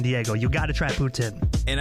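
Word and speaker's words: poutine: you got to try ptin and I know Putin is that how you say it ptin ptin yep so um the people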